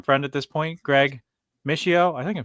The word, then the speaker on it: Mishio: at this point, Greg Mishio. I think I'm saying that right. Mishio. Yeah, if you're in Italy, they would pronounce it MSO.